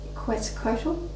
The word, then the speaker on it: Quetzalcoatl: Quetzalcoatl. They kind of like told me like drop the Q but keep the sound like Quetzalcoatl. It's not Quetz, it's Quetzalcoatl.